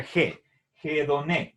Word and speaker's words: hedoné: headon es placer y recuerden este signo es el espíritu áspero y al pasar al latín se transcribe por la h esto se lee que se pronuncia je je don qué es eso placer